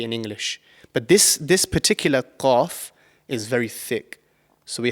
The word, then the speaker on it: Qaf: So the letter Qaf is actually pronounced from the farthest part of your mouth. So right at the back of your mouth, just before the throat.